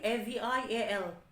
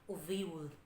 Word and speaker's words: Avial: A-V-I-A-L. Avial. No, you should pronounce Oviul.